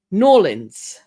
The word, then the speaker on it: New Orleans: And Pamela has given me the pronunciation. Norlins.